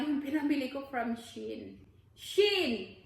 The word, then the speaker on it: Shein: Shein!